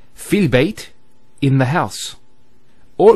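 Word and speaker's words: في: So the first word is fi. So you notice there's the elongation, the long vowel. Fi means in, and that in could either be physical or abstract. So if we say fil bayt, in the house, or it could be abstract.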